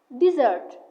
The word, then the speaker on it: dessert: On the other hand, we have dessert with the double S. This means sweet food eaten after a meal. Stress the second part.